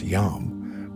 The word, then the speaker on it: Yam: The Yam, pronounced Yam, was the Mongol Empire's unparalleled system of relay stations or post stations.